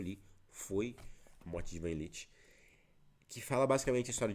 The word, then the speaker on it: Ivan Ilitch: E aqui estou falando sobre a morte de Ivan Ilitch, é sim, é desta forma que se pronuncia, do Lev Tolstói.